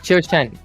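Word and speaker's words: Zhuxin: It's Chiu-Shen. It's exactly Chiu-Shen. Yeah, but obviously not. I mean, for a non-Chinese person, it's really hard to say her name. So most people just call it Zhu Xin, like really easy. But it's supposed to be Chiu-Shen.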